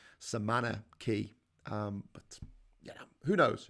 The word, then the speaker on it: cay: c a y y like k but it's pronounced key uh that that comes